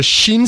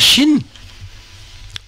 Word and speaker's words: shin: disais que parce que pour dire Chine on fait comment en les dents sererre les dents mais sachez que Chine